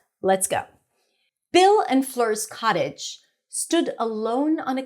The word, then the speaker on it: Fleur: The name Fleur has the as in stir sound in American English. Of course, in French, that's a different pronunciation.